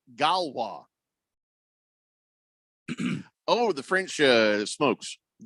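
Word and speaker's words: Gauloises: few things so any it says it's pronounced uh galwa oh the French uh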